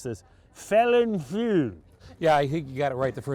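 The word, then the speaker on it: Felinfoel: They come from the Welsh brewer, damned if I can pronounce this, Felin Few.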